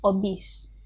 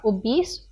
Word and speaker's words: obes: Okay, so the pronunciation is obes in Malay. Not obese, obes.